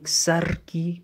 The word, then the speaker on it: sarki: Then we have sarki, asking, sarki, pronounce the R, then sarakuna, sarakuna, kings.